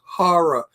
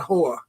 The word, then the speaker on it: horror: The word is horror, not whore.